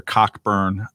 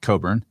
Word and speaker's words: Cockburn: to work for with alexander cockburn um whose name i pronounced like that on purpose what is it supposed to be pronounced like coburn um but then spell it that way dude uh he's dead